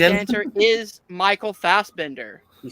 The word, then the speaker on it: Fassbender: answer is Michael Fassbender. He said Okay, well I put an extra syllable.